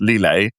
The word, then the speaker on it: Lillet: my own favorite French move today is lile pronounced lielle and he says where it's made and he